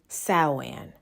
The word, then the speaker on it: Samhain: Sawan. However, it is not pronounced like how it's spelled.